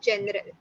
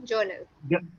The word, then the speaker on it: journal: talking about journaling okay General instead of Journal you said General it is a repeat after me Journal Journal the theme located this